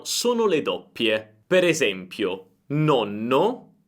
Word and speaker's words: nonno: Il mio consiglio per pronunciare bene le doppie è quello di accorciare la vocale precedente alla doppia. Per esempio, nonno, nonno, nono, nono. Senti la differenza? Nonno, molto breve, nono, più lunga.